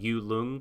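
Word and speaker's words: Yut-Lung: It's like Yu Lung, but there's a T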